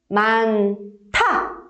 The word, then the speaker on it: 많다: Então aqui, por causa de 히읗 받침, o 디귿 vai ser pronunciado de uma forma aspirada, de uma forma mais suave. Tem que sair o ar da boca. Então vai ser 많다.